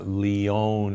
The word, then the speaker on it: Lyon: Lion Heart Diet or the Lyon Heart Diet, Lyon, but most from Lyon, France, but most people pronounce it Lion.